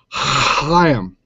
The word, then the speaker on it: Chaim: It's Chaim. All right. Chaim. All right. Now I pronounce it Ren Hook.